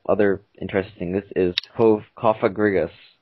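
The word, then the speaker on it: Cofagrigus: This is Kofagrigus.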